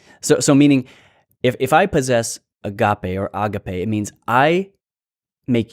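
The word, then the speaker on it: ἀγάπη: Sometimes you may have been accustomed to hearing agape. Use it however you want. I think the actual pronunciation is agape.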